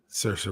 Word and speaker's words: Saoirse: Yeah, Saoirse Ronan. Yeah, Saoirse Ronan.